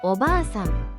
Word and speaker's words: おばあさん: 오바상 할머니.이 이 단어는 오바상이라고 바 뒤에 알을 길게 느려서 두 박자처럼 발음합니다.이 경우 단어의 의미는 할머니가 됩니다.